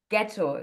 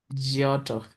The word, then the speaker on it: Geotto: So um and it's like about your heart project and the hard project it's called ghetto. Do I pronounce that right? Jotto jotto.